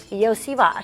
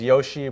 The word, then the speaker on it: Iosivas: yeah Andre Yos Yos some people know me as Yoshi but the sh part comes at the end of my name actually so okay so Yoshi